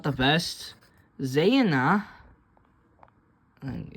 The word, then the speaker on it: zaneian: But usually, because the Z has a little line, it usually means that it have to have an E. So it's zaneian. Zaneian would be its pronunciation.